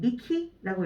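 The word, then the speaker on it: 幹: 자, 그 다음에 훈독은 미키라고 읽어주시면 되겠습니다.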